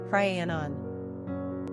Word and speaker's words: Rhiannon: Number of syllables, 3. Ranking popularity, not applicable. Pronunciation, Rhiannon.